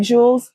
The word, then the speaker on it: Jullz: I my name is Juliet people call me Jewels my friends call me Jewels you call me